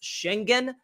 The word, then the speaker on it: Şengün: Şengün prefers to have his name pronounced Schengen. So I guess we got to learn how to say that differently.